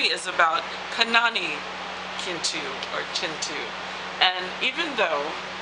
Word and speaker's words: Kintu: And even though the introduction tells you how to say Kintu with a soft CH, Kintu, it's kind of hard to look at the K and not say Kintu, right? And that's possibly, again, the American in me.